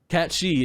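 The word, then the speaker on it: Cait Sith: in wait people can announce it cat catchy cat she is the correct way to pronounce it it's c-a-i-t-s-i-t-h i believe and i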